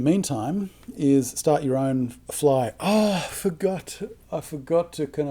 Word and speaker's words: FLEI: So our acronym for this is like fly, FLEI, using the Germanic pronunciation. EI is pronounced I in German. Fly.